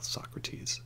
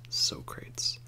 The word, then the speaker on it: Socrates: have some hilarious mispronunciations they usually call Socrates sokrates or Beethoven beef oven so these are some